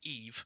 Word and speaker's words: Eve: by the way, that the character in Wall-E is actually called Eve. Yes, not we Eva, we and are. it is yes. Wall-E's mispronunciation almost of her name that inspired my daughter's name, because he does say Eva rather than Eve.